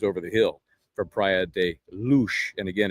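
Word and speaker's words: Luz: It's barely three kilometers over the hill from Priad Luch. And again, it's lu, but pronounced luch.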